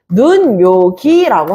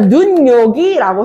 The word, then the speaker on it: 눈요기: 그러니까 눈요기라고 했을 때 니은이 더해지면서 눈요기라고 지금 하나가 더 첨가된 거야.